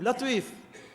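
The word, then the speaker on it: لطيف: Allah subhanahu wa ta'ala dit latif. Latif. Le mot même al-latif et d'ailleurs nous venons avec ça non là inchallah. Latif. Prononcez, chers frères, latif.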